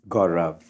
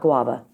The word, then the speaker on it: Gaurav: So the proper pronunciation of your first name is Gaurav. not guava. That's a fruit.